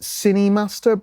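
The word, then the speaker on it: KineMaster: there's a i think it's pronounced cinemaster but it's spelt with a k which is a editing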